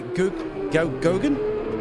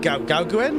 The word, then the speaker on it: Gogan: So we've got Huli, can I pronounce this correctly? Gogan? I think it's Gogan. Gogan, yeah. Yeah, because I says, is it Gauguin? Or he said, no, it's Gogan. I was like, okay. He says it's easier to pronounce than it looks.